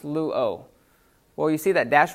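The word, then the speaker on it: λύω: Well, that's pronounced luo.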